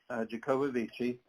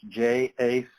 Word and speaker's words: Jacobovici: He says Jacobovici, but when you look at it, it's Jacobovice. And he has told me that people pronounce it both ways. He's perfectly good with Jacobovici.